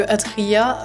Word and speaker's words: Atria: en fait c'est que atria c'est du pluriel sur le titre du coup le s ne se prononce pas mais je peux comprendre